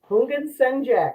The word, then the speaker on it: Houngan: Today's guest is one of the presenters from HexFest, Hungjack. Am I pronouncing your name correctly? It's like the H is silent.